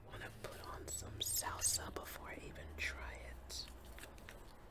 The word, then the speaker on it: salsa: the avocado verde salsa I notice a lot of Americans say sauca SAA it's salsa baby hey don't take my word for it ask a Hispanic it's like the dance the dance is the same word salsa let's dig in taste